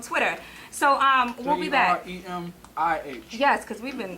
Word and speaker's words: Jeremih: Jeremih. Yes, because we've been spelling his name wrong all day.